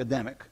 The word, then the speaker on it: Adamic: Adam is a demek some people say adamant because i think it's not like a custom but they're not it's properly pronounce the Adamic covenant okay coming between God